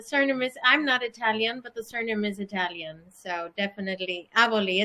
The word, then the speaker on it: Aboli: Aboli, did I say it right? That's right, Aboli.